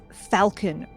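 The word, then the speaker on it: Phalkon: a two locations the executive lounge and the Falcon room and let me uh just be very very clear here that is spelled p-h-a-l-k-o-n looks like the executive Lounge is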